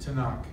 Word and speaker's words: Tanakh: it's the three Torah prophets writings and it's pronounced to knock so Messianic believers do not say Old Testament they say what's in the Tanakh the second is the name of God god